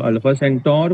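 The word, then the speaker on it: Alpha Centauri: छोटा है वो उसका राइट पोर्शन है तो अल्फा सेंटोर बोलते हैं उसको अपन एक्चुअली प्रोनाउंसिएशन में क्योंकि वो कैसे अल्फा टाओ अल्फा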